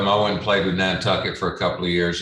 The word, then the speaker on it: Nantucket: ¿Cómo se pronuncia? Nantucket.